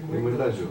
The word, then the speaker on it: Nimuendajú: Então, Nimoendágio, como é que é a pronúncia, né? Nimoendágio.